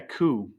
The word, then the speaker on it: coup: it's spelled cope, but I think we say a coup for Okay, some cool.